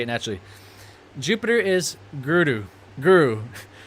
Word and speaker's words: guru: Jupiter is the guru, but it's more so pronounced guru. Guru. I'm trying to get the pronunciation proper. Guru. It's like the R, you do a duh, like guru. Because the R in the Sanskrit, there's a duh.